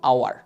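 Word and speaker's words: hour: যদি আমরা এটা দেখ ঠিক আছে আমরা কি হাওয়ার উচ্চারণ করি হাওয়ার না আমরা বলি কি আওয়ার আওয়ার বলি অনেস্ট বলি এখানে দেখো আমরা কিন্তু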